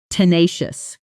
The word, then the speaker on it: tenacious: Say the stress pattern with me. T nay. Nous. The weight landing hard on that middle syllable. Slow first. Tina, she natural tenacious.